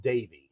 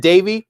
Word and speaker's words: Devi: Apparently it's pronounced Davy. Is it Davy? Yeah, because I heard Sonia Sotomayor say Davy, but then that's also what Kamala said. So it's Davy. It's okay, Davy. So even though it's DEVI, it's Davy.